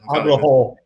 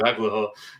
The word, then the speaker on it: Agholor: Agholor. Thank you, Agholor.